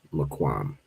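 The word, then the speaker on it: מקום: I think this is the one that it shows, but you pronounce this as just Maquam.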